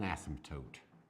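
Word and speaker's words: asymptote: explain what it means this is an ASM toote it's got a cute little silent p in it Asm toote what an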